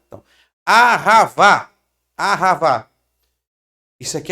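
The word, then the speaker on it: אהבה: hebraico, no Novo Testamento, o amor aqui em hebraico não é ágape, o amor no hebraico é ahavá. Ó, ahavá. Ahavá. Ahavá, que é no hebraico. Tá? Ahavá. No hebraico, o amor é ahavá.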